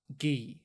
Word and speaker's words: Guy: In French, it was pronounced Guy, as in Guy de Lusignan.